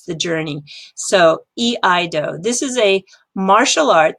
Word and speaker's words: iaido: This is iaido. So this is E.